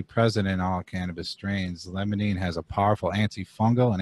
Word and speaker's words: limonene: I think I'm pronouncing that right. Yeah, limonene.